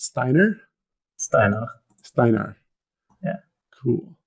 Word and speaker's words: Steinar: So is it pronounced Steiner? Steiner. Steinar.